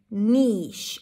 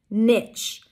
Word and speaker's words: niche: has two different pronunciations the first pronunciation is niche an n sound high e and sh niche the second one is niche an n sound a as in sit the difference is in the vowel in the middle e versus e and the consonant at